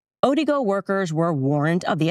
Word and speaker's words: Odigo: There was an instant messaging service that was called Otigo. maybe I'm saying it wrong, Odigo, O-D-I-G-O.